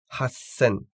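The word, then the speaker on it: 八千: Donc sanzen et non pas sansen et hassen avec un double S.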